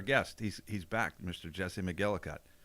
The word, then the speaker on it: McElligott: or how do you what do you think name or the way to say the name is Mike elegant elegant if you're over in Ireland or Scotland that's how they're gonna pronounce it okay but just kind